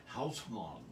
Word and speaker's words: Hausmann: Hausmann. Ah. And the S is strong in the word. It's not Haus, like a Z.